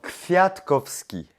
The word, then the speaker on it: Kwiatkowski: apprends-moi à le prononcer. Alors, Kwiatkowski.